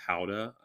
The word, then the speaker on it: Gouda: named after their dog, Gouda, which is actually pronounced Howda, right? Like, oh, I have no idea. I don't know. I've heard that Gouda was actually pronounced Howda. So.